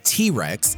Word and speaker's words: TRX: rawlings knows it the 2021 ram trx pronounced t-rex is a massive truck